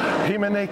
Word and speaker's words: himene: Himene came from hymns. For us, it's himene. So how do you pronounce it?